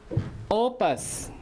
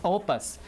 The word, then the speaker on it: opus: Opus, this is how it's pronounced. O, right, you see the underline here, which means stress. Opus.